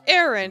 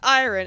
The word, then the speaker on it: Aaron: It's pronounced Aaron instead of iron, and it's completely different.